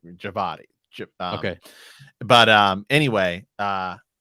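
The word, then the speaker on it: Djawadi: up by the way it is um javadi raman javadi is how it is pronounced okay okay d-w-i-j you know it's like javadi okay but um anyway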